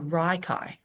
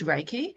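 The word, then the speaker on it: Reiki: Rikai is Raiki, but I'd never heard of Raiki. And I was trying to pronounce it like I'm looking at it going, "What is Reichai?" And I felt this massive draw draw to go do Reichai, which I therefore learned was Raiki.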